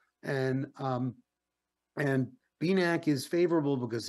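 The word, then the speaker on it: BENAQ: possible Vision restoring agent is called b-neck that's spelled b-e-n-a-q and um and beanak is favorable because it's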